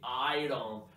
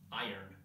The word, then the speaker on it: iron: This video aims to improve your pronunciation, especially to teach you this mind-blowing information that you don't say iron, but iron.